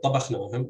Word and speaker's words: tabakhnahum: And these words can be compared to tabakhnahum, where the second syllable is CVC, not CVV. And so stress falls on the initial syllable in this word.